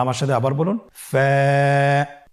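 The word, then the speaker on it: ف: wow Hamza ইয়া হরফটি আপনারা স্ক্রিনে দেখতে পাচ্ছেন ফা হরফটি উচ্চারণের ক্ষেত্রে বারিক হবে এবং এক আলিফ টেনে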